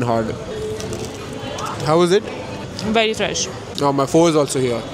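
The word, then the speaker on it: pho: let's try this chicken फ की spelling होती है पी एच ओ फॉर she taking a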